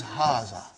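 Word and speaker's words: هذا: like ha ha huh but this Aleph is not written it is explaining the key also so it is Haza okay haza means this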